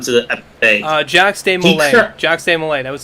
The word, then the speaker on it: Molay: And Molay is spelled exactly as it sounds. Molay.